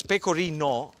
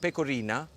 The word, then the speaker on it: pecorino: Just be careful the way you pronounce it, because pecorino with an O is the cheese. If you put an A at the end and you call it pecorina, that means get closer.